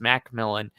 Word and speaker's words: McMillan: and the Jalen McMillan, which he just said is pronounced Macmillan.